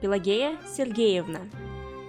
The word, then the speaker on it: Pelageya Sergeyevna: Her full name is pronounced Pelageya Sergeyevna.